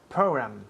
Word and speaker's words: program: Program. Good. Program. Program. Yes. Program. Program. Y la última letra aquí es una M. Program. Los labios tocan.